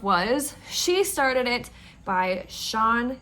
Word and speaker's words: Sian: she started it by Sean Gilbert that is how you pronounce it I Googled it uh